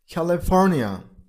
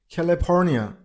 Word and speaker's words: California: Number five. California. California. You got to stress on the third syllable. I mean on P sound.